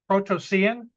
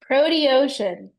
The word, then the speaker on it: Proteocean: Protocean? Proteocean. Yeah, it's Proteocean. not intuitive at all. We should work on Not at that. You can tell So, I'm more yeah. terrestrial than I am marine. Proteocean.